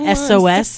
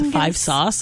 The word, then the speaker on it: 5SOS: SOS this is like it's not SOS it's v sauce and I was like